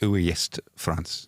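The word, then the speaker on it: Ouest-France: I think is how they pronounce that correct, Moscow? Could you just check that for me? Yes. It's the Ouest France. So there are some Ouest Frances, but this one is the Ouest.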